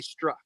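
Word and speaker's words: Strzok: And that's the that's our next book by the way which is called At Dawn They Struck. And it's spelled S T R Z K.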